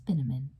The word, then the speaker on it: Binneman: Then Grandma closed the front door and told me, "Margaret, darling, this is Mr. Morris Binneman." "Rhymes with cinnamon," he said to me.